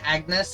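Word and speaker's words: Agnès: I always called Sunshine Agnes until I heard them pronounce her name apparently it's French I never knew I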